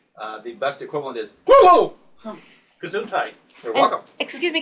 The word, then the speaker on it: Cthulhu: Yeah, that's science fiction, and that's and of course we who know him personally know that his name is not easily pronounced in English. The best equivalent is Cthulhu.